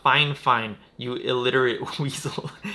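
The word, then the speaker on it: FIFINE: with several times their their brand name is pronounced fine fine but it's spelled fi fine and in the first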